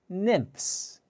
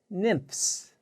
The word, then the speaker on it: nymphs: crickets are called nymphs this is a difficult word to pronounce let's try it together nymphs nymphs the ph sound sounds like an f nymphs now what